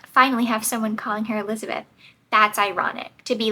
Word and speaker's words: Elizabeth: more did it too she came down very hard on the second syllable Elizabeth I liked this especially